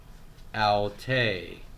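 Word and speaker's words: αὐτή: Alte, smooth breathing, accent on the second syllable.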